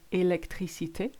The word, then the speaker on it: électricité: In French, you won't put any stress on any part of the word. You just say communication becomes communication. Electricity becomes électricité. Invitation becomes invitation.